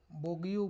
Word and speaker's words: Bogue: बोग compound, कल हम उस दिन बार बार बोगस बोगस बोल दे रहे थे। इसका BOGUE प्रॉपर प्रोनाउंसिएशन पता नहीं सर, बट बोगयू बोल सकते हो, बोगू, बोग कंपाउंड ये था।